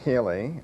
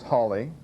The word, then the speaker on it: Halley: people pronounce it as haly uh there's Holly and H uh three different names we have a feeling that Holly was probably how Sir Edmund would have pronounced his surname but it's important to